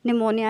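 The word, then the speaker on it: pneumonia: अगर for example आपको बताया जाए कि जो निमोनिया की स्पेलिंग होती है वो पी से स्टार्ट होती है, लेकिन उसकी जो प्रोनाउंसिएशन क्या है, निमोनिया है।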